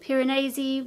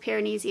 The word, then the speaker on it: Piranesi: cosmos which i loved piranesi which oh yeah i learned that it's not called piranesi it's called piranesi so i think i've been pronouncing that wrong anyway piranesi which i